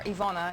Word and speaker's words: Iwona: Well, it's Yvonne or Iwona in Polish, Strahovski.